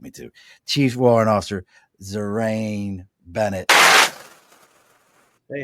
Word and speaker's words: Zurriane: for him, and then he told me I was pronouncing his name wrong, because I was gonna say Zurriane the Hurricane was coming through with us, but he said it's Zurriane.